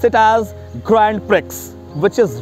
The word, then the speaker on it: Grand Prix: GRANDPRIX. People often wrongly pronounce it as Grand Prix, which is wrong, totally wrong. It's Grand Prix. Grand Prix.